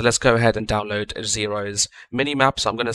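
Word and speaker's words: Xaero: mod here so let's go ahead and download xero's minimap so i'm going to search for xero which is spelled x-a-e-r-o and then download the mini-map mod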